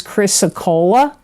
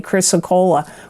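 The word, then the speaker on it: chrysocolla: best gemstone Crystal I got for you is chrysocola and I'm going to spell that because sometimes people don't know what I'm saying here it's c h r y s o c o l l a chrysocola we don't see this pop up much but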